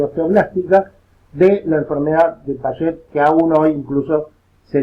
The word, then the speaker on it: Paget: Debería pronunciarlo correctamente Sir Lord James Paget, porque era británico, no francés, como la mayoría cree.